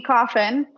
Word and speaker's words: Coffin: So Coffin tipped Venmo $20 and said, Rachel, it's coffin, just like the box.